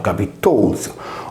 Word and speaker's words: Capitolzu: Il Cabizuso trova riscontro nel Capitolium, pronunciato Capitolzo, oggi corrotto in Campidoglio, situato a Roma presso il Colle della Velia, proprio là dove era situato il tempio agli dei penati.